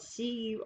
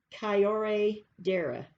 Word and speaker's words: curandera: And it's spelled Curandera, Curandera, or the correct pronunciation is Kyore Dera, or you can just say Curandera. You can use the English version.